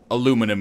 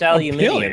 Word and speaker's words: aluminium: point uh for us pronouncing aluminum in the American fashion instead of the British fashion it's aluminium you've been saying it wrong the whole time all of all of